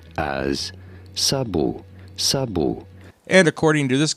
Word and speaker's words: sabot: For reference, this is a word of French origin. In French, this is said as sabu.